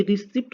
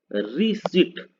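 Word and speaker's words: receipt: Okay, लेकिन ये रिसिप्ट नहीं है, ये हम गलत पढ़ते हैं। इसको हम गलत पढ़ते हैं, रिसिप्ट ये नहीं है, इसको ये क्या है, ये है रिसिट।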